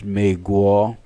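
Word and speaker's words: 美国: Like Australia is Odalia, New Zealand is Shinshila, then we have Brazil as Bashi, America is Meguo, Canada is Janada. Then so many other countries have the way of pronouncing their country name in China.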